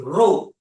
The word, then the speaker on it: rho: This is rho. Yes. It's a Greek symbol. Rho. Greek symbol. That's how you pronounce it.